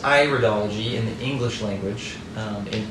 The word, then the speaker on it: iridology: English it's often pronounced iridology but in English American English we say iridology because we're looking at the iris and other languages Iris